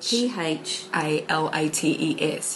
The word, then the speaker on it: phthalates: The other one was phalates, which is actually spelled um P H P H A L A T E S.